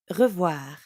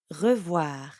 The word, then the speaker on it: revoir: And voir is easy because it rhymes with soir, like in bonsoir.